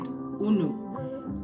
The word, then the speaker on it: unu: We have a very very popular word that we use and we pronounce it unu. This is the ebo word una. It means you people or all of you or you all.